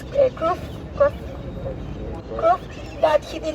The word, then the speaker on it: Cruyff: And in fact, for example, there was this Dutch player, I always mispronounce it, but it's Cruyff, that he did not come to the World